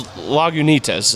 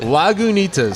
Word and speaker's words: Lagunitas: and I really apologize I think it's Lagunitas is how you say it Lagunitas I think I'm I'm pretty sure why